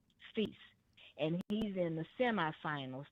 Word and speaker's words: Fils: And his last name is Fils and it's spelled F I L S. Fils. Okay. And the L is silent.